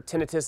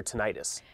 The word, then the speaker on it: tinnitus: you tell our viewers what is tenius and also what is the proper way to pronounce it because I hear tenius and I also hear ttis it doesn't matter how you pronounce it it it's different people say different things it really doesn't matter but what it is